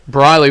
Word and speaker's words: Briley: a new one though it's Briley smiley yeah Briley's I regard